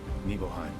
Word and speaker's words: Nibelheim: Nibelheim. Yay, that is how you pronounce it.